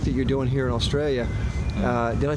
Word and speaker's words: Australia: you're doing here in Australia. Did I say that right? Australia? Does that sound good? Not like a real Aussie. You got to drop the A to be a real Aussie.